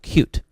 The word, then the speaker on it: Qt: it another choice is something called QT um actually it's really called cute but I can't bring myself to pronounce it that way um it's a a